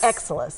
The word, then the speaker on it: Exilis: We're going to let you pronounce it because I was working on it during the break. It's Exilis? Exilis.